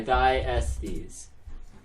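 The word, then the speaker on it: Thyestes: The It's spelled like die and then Estes. thy, like thigh. No, like die as in the god. You know, like thy glory or something. Oh, like that. okay. Thy Estes.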